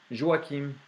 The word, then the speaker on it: Joachim: nous allons commencer avec Joachim ou Joachim, ça dépend de comment vous aimeriez bien la prononcer, mais Joachim, c'est comme ça qu'on le dit souvent en France, Joachim a des ennuis.